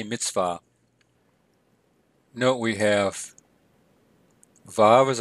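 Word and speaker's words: מִצְוָה: would pronounce that Mitzvah some people pronounce that with a V sound some with a W so Mitzvah or Mitzvah I say Mitzvah note we have valve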